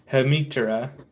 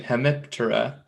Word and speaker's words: Hemiptera: though i know like that should be something more like hamitra um i always pronounce the p in hemiptera even though the terra is the p silent because it means wing um you know what